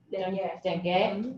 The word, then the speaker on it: dêguê: Dêguê.